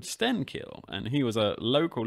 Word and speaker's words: Stenkil: So enter Stenkil, or Stenskil, as he was probably more properly pronounced in Swedish and back in the day. Yeah, Swedish has this horribly difficult ch sound in a lot of words. Stenskil is one of the trickier ones perhaps to pronounce if you're not a native.